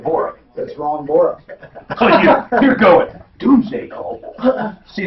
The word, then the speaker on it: Borup: Bora. How do you spell it? B-O-R-U-P, Minnesota. Borat?